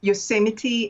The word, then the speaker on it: Yosemite: the one that i have here is uh yosemite i think that's how it's pronounced yes that's right in the u.s yosemite and also um the spirit of water oh